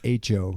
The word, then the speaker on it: Hecho: You don't pronounce the H. Hecho. Hecho in Mexico.